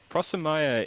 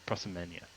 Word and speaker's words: Prosimenia: I pronounced her name wrong. Sorry, it's Prosimenia.